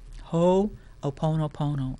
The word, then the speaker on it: Ho'oponopono: Ho'oponopono. I love Hawaiian language because it every single letter in the word is enunciated or pronounced.